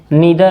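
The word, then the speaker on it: neither: Distributive pronounce में each आता है, ईदर आता है जिसको हम लोग आइदर भी बोलते हैं, नीदर आता है, नीदर जिसको नाइदर भी बोल सकते हैं, और एक नन भी है।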